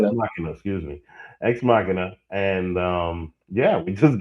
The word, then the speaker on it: Ex Machina: X Machina.